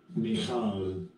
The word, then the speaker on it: Michal: unless you first bring Michael. So Michael, this is her name in Hebrew. Strong's H-4324. Michal.